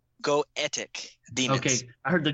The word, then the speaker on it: Goetic: How do you pronounce that? What did you say? Goetic demons.